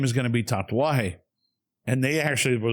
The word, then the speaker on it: tatuaje: They're like, tatuaje. And I go, can you spell that for me?